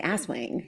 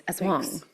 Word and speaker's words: Aswang: Can we talk about how we really want to pronounce it? Well, I want to say asswang. Yeah. Very badly. And I'm a little disappointed. It's asang.